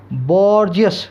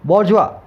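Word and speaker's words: bourgeois: देखने में लगता है क्या है ये, बॉर्जियस, क्या लगता है, बॉर्जियस। अब चाहे इसको आप जो मर्जी बोल दो, इसका सही प्रोनाउंसिएशन होता है बॉर्जुआ, बॉर्जुआ। अब ये देखो फ्रेंच वर्ड है तो अपने इसमें जाएंगे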